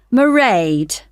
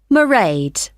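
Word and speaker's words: Mairead: you'll see my assistant marade sorry how do you spell that it's m a i r e a d marade okay got that it's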